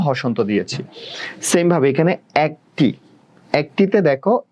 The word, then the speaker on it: একটি: এটা অনেক জায়গায় বানানটা এভাবে দেখায়, আবার এটা একটি, এই বানানটাও ঠিক দেখায়। এটা নিয়ে একটু কন্ট্রোভার্সি আছে, এটা নিয়ে আসলে স্বচ্ছ, এটা পরীক্ষায় আসে না যেহেতু কন্ট্রোভার্সি আছে, তাও আমি তোমাদের ক্লিয়ার করার জন্য বলতেছি।